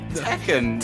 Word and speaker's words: Tekken: good as like what's the other game like tuck that or or like you know other games